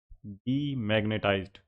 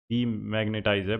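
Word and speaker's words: demagnetize: Electromagnets can be quickly मैग्नेटाइज्ड एंड डीमैग्नेटाइज्ड। डीमैग्नेटाइज है भाई ये, डैमैग्नेटाइज नहीं है।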